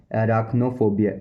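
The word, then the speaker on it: arachnophobia: इसको बोलते हैं इंग्लिश प्रोफेशनल लैंग्वेज में एराक्नोफोबिया, एराक्नोफोबिया, एराक्नोफोबिया, एराक्नोफोबिया, एराक्नोफोबिया, एराक्नोफोबिया, एराक्नोफोबिया, एराक्नोफोबिया, एराक्नोफोबिया spelling A आर ए सी एच एन ओ, ए आर ए सी एच एन ओ मतलब spider मकड़ी।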